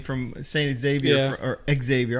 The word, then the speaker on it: Xavier: or Xavier. I call him Xavier, but they pronounce it as Xavier.